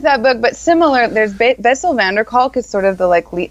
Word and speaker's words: Bessel van der Kolk: Bessel van der Kolk, Kolk. Bessel van der Kolk.